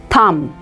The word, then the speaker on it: thumb: comme in this word B is silent so it is pronounced as thumb the next word is